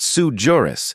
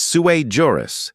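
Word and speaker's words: sui juris: Because it's not sujurus, it's suer juris, which is Latin for crayon cruncher.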